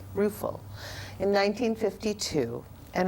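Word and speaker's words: Ruefle: heard before again uh Mary ruul I believe is how you say it r u e f l e ruul in 1952 and it's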